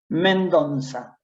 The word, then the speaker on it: Mendonça: Mendonza. Es una Men- Z antigua.